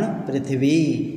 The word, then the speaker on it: पृथ्वी: यहाँ पृथ्वी, पृथ्वी नहीं पर पृथ्वी, क्योंकि ये र का रेफ है तो इसलिए र का थोड़ा सा हल्का सा उच्चार आना चाहिए, पृथ्वी, तो पृथ्वी ऐसा उच्चारण हम करेंगे।